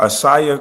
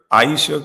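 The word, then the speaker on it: Ayesha: Uh, Asia Curry. Aisha Curry. I think that's how you say it. I think I always say Asia, but I think it's Aisha Curry.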